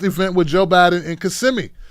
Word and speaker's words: Kissimmee: hispanic heritage month event with joe biden and kissimmee kissing me that's it kissimmee florida okay here we go now this is